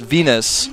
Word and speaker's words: Vines: That was back when he was, his name was, his ID was pronounced Venus, okay? Oh, yeah, they were still pronouncing he it that way.